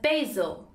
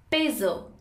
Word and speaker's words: basil: In American it's pronounced as basil. Basil.